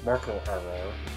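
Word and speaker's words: Marco Aro: So, Marco Arro, that's how you pronounce his name.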